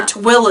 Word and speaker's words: Tooele: you would say By the way, it's spelled, or Tooele is the worst.